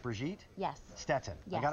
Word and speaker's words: Brigitte: It's pronounced Brigitte?